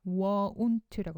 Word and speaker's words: won't: won't라고 발음하셔야 됩니다. won't. 그렇죠? t는 거의 발음이 안 나기 때문에 won't까지만 하셔도 괜찮습니다. won't.